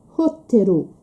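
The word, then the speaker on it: ホテル: Um exemplo disso é a palavra hotel. Em português nós dizemos hotel. termina num L. Portanto, eu não tenho aum sílaba. Então, o que é que acontece? Eu vou adaptar para o japonês e a palavra vai vai ser rottero. R te ru. Três sílabas, três e caracteres que correspondem a sílabas fonéticas.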